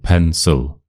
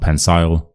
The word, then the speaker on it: pencil: That's a good example. Pencil pencil, not pencil, not pensile, pencil.